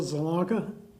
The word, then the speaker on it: Zielonka: My name is Zalonka. Want me to spell it for you?